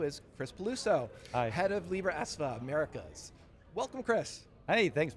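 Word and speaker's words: Libraesva: Yeah, there is a lot of history around that, and thank you for pronouncing it correctly, Libra ESVA.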